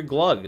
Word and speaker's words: Glug: course no um also i've been saying your name wrong you're glug not gog why am i saying